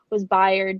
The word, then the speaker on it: Bayard: So like not only was Bayard, that's how you say it, right?